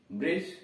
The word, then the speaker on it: bridge: कर अगर ऐसा कोई शब्द है जब किसी वर्ड में डी के बाद जी हो तो डी का उच्चारण नहीं होता है। जैसे BRIDGE ब्रिज, ब्रिज पुल, BRIDGE ब्रिज पुल।